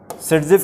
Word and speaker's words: Saytzeff: बहुत अच्छा, सेटजेफ की स्पेलिंग बताइए।